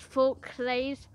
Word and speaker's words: Forclaz: And this personal one is, I don't know how to pronounce that, Decathlon's a French company, but I think it's Forclaz.